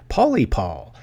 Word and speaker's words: Pauly Paul: But pronunciation, as I've just been corrected, which is nothing new to fans of this, is Pauly Paul 315.